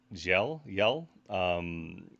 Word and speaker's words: Gjel: It's Singsas Gjel. It's a tough pronunciation. We think looking up translations, we think the Yell part, the Gjel, means trench or ravine,